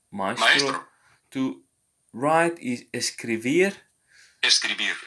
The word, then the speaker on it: escribir: To write is escribir. Escribir. So we know that the letter B sounds like a V.